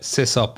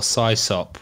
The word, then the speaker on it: sysop: And did you call it sysop or sysop? Was that like a battle? how to pronounce it? Yeah, I always said sysop. I thought sysop. The first time I heard somebody say sysop, I thought, what a crazy pronunciation.